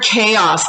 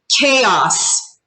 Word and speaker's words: chaos: chaos creates a negative attitude so this word chaos let's say this together chaos chaos everybody say this chaos chaos i can't